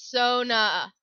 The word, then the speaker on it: Sona: how I pronounce pronounce Sonia's name in League of Legends I know it's Sona but I keep pronouncing it Sonia years of playing Mortal